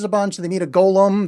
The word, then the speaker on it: golem: They meet a golem. They mispronounce that as Gollum, which that's the guy from Lord of the Rings.